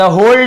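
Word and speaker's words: whole: ठीक है, तो मुन्नू स्टडीड, मुन्नू ने क्या की, पढ़ाई की, फॉर द होल डे यानी पूरे दिन, होल डे यानी पूरे दिन, यहाँ पे W साइलेंट होता है, केवल होल पढ़ते हैं, लेकिन इसे लिखते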